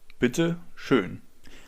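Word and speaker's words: bitte schön: Bitter shun.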